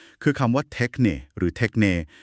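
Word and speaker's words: τέχνη: อะไร กัน แน่ ค่ะ เทคเน หรือ เทคนี นะ คะ อ่าน ว่า เทคเน กรีก โบราณ ค่ะ ความ หมาย มัน ลึก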